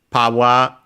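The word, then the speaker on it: パワー: Okay, the power bracelet power in same in Japanese simply with the pronunciation changes power because again there isn't R sound in Japanese and so it becomes long a in this case powerto Again uh we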